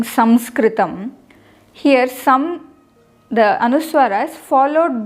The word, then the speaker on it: Samskritam: cannot pronounce this as Sanskritam. It is Samskritam. And many places I hear people pronouncing it as Sanskrit, but no way we can put a na there.